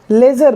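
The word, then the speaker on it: leisure: यहां पर अगर देखेंगे ई आई का जो प्रोनंसिएशन है उच्चारण बिल्कुल डिफरेंट है इसको हम लेजर बोलेंगे क्या बोलेंगे लेजर जिसका मतलब होता है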